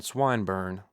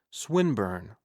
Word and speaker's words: Swinburne: swatted meant this man swineburn he began attempting to put his plan into execution and pronouncing the eye long who swine burn he repeated with the same mispronunciation the poet swinburne she corrected yes that's the chap